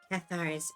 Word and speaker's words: Cathar: You pronounced it fine with Cathar's crusade.